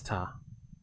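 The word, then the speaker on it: 田: It is t in kyomi and den in its onomi. Okay. Yeah, it's ta.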